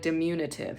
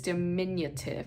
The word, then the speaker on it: diminutive: was like it's diminutive I'm like dimunitive she's like no no it's diminutive I be like dimunitive I couldn't say it um there's a French